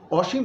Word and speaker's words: অসীম: স হিসেবে উচ্চারণ করছি, তাহলে এটা হবে অসীম, অসীম, এবং ময়ের মধ্যে একটা ছোট্ট ধাক্কা আছে, অসীম।